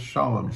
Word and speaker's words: Sholem: It's not pronounced Shalom. It's pronounced Sholem.